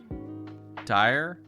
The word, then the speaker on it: Dyer: You can just call me Dyer. Rhymes with tire.